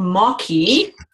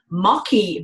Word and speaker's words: Maqui: um I found out about a berry called mocky um a couple of years ago and uh